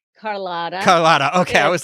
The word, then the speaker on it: Carlotta: and the lightning because carlito is out on the on the lawn there and um did i just say her name wrong carlotta okay i was like